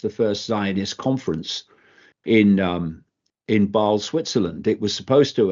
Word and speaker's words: Basel: Did you say it was launched in Basel? Basel, Switzerland, yeah. Not Baal.